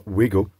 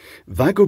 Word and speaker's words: WAGO: as opposed to the Vago or wigo Vago being the correct pronunciation because it's Vagner and uh there's two names Blended together and one of them is Vagner now with these both